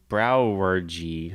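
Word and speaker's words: Brouwerij: I'm going to say it's pronounced brewery, but it's spelled BROUWERJI. Whoa. BROUWERJI. J. And then there's more, but that's just the first name. So that's saying brewery. Browergy.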